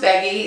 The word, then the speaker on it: Beaggi: ve a Gigi I so Andrey says it's pronounced Peggy so that's the way